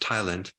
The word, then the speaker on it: ptyalin: There's this enzyme called ptyalin, which the P is silent, but it's pronounced tialin, which is basically an enzyme called amylase, that helps break down the starch.